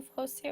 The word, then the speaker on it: foci: so yeah, like I said, an ellipse needs two foci or foci, whichever pronunciation you prefer, and then I included